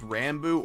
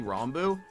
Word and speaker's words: Ranboo: to pronounce my name i am fine with rambu or rambu i pronounce it mostly rambu but like as long as you're not islam